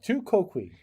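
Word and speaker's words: tu quoque: pronunciation online it did on wikipedia it says tu quoqui you see so okay go ahead two kokui the the logical fallacy of tuquoqui uh in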